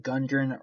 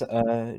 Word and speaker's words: Gundren: You are also going to try to find Gundren Rockseeker.